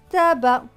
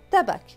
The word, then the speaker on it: tabac: b et ac bac alors il faut savoir que ça se prononce donc assez mais que là le sait ne va pas se prononcer c'est exceptionnel donc ce monde va se lire ta ble à tabac et non pas tabakh non tabac du tabac